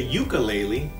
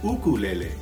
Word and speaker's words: ukulele: And some people say ukulele, but the right way to say it is ukulele. And ukulele is a Hawaiian word.